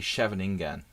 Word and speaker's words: Scheveningen: Well, most people say Scheveningen, or Scheveningen, okay? So, Nils, this is the way I used to say it, like, Scheveningen, That's how, like, the standard American would probably say it.